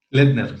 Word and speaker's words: Laettner: disputándose ese lugar entre Christian Laettner, ¿así se pronuncia? Laettner, sí.